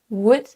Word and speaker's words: would: Tous les mots-là ont un L silencieux. Dites donc walk, talk, would, could et should.